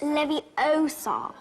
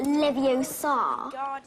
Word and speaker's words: Leviosa: someone's eye out besides you're saying it wrong it's Levi Oar not Levi Oar you do it then